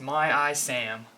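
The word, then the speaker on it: MyISAM: need to use and this is pronounced my IAM storage engine and this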